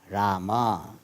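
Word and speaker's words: राम: This is a problem of this pronunciation. In North India, they will say Ram, Ram, Ram, Ram. Here what they will say? Rama, Rama, Rama, Rama.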